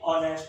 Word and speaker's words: honest: Letter भले ही हमारा consonant है एच, लेकिन इसकी जो साउंड है वो ओ से शुरू है, तो क्योंकि एच साइलेंट है, ONEST, तो ये ऑनेस्ट हो गया।